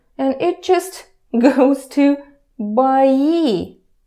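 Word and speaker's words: бои: it just goes to by E by E pay attention to the pronunciation a vowel reduction happens here it was boy clear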